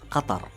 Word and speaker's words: Qatar: the official pronunciation of my country is Qatar.